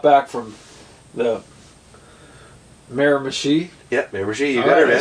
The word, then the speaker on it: Miramichi: Yeah, Miramichi.